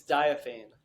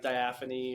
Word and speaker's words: Diaphane: don't personally screw it up yeah it's it's diaphane that is not what I thought that sounds way cooler than how you originally pronounced it a lot of people mispronounce it like people say like diaphane or diaphragm I've gotten a few times so didn't really